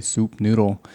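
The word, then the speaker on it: Sup Noodle: It's spelled S-U-P, like sup, but it's really soup noodle.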